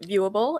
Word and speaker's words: Vuable: unique about yours yeah so this it's called viewable it's spelled vu w ABL le you know playful